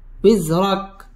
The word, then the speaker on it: وزرك: করে পড়তে হবে আনকাউই ওয়াও ঠোঁট গোল করে উচ্চারণ করতে হবে উইজরা রা পুর হবে উইজরাক কাফের মধ্যে ওয়াকফ করতে হবে ووضعنا عنك وزرك ووضعنا عنك وزرك ألم نشرح لك صدرك ووضعنا عنك وزرك.